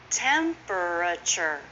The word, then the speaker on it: temperature: Temperature is often temperature.